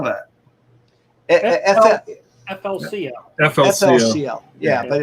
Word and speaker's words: FLCL: It's a great Spell that. FLCL. FLCL. Yeah, but it's Fooly Cooly.